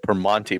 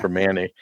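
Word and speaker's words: Primanti: right even wow I I always get in trouble because I say it per Monte brothers and it's per Manny but yes I I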